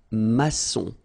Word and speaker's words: maçon: Here you can see that we've got this little cédille beneath the C, okay? And it just means that you will pronounce this C as S, okay? So that's the reason why. It's un maçon. Son, okay? O-N in your nose, nasal, un maçon, all right?